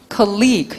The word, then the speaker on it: colleague: 동료를 어떻게 읽어줘야 돼? colleague, 시작. colleague, 시작. colleagu예요. college는 대학이고 colleague, college는 오히려 잘 안 나와요.